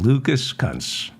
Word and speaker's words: Lucas Kunce: That would be Lucas Kunce. That is his name. I'm pronouncing it properly. Lucas. I said Lucas correctly. As in Lucas Kunce. That's his name, Lucas.